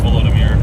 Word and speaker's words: Volodymyr: Volodymyr, I think it's Volodymyr, because I think it's not pronounced like the traditional Russian Vladimir, I don't believe.